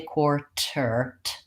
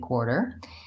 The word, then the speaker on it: quarter: word in American English we don't really say T sound I don't say quarter there's no release of the T there's no aspiration there's no quality to my T in quarter in American English I use a flap T which I mark in the symbol as a little line under the T and it really actually sounds more like a D so if I was